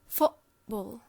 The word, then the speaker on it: football: time it's pronounced like footb okay in many accents it's pronounced like football okay so this T here it's not a t it's pronounced as a glottal stop okay it's a gloal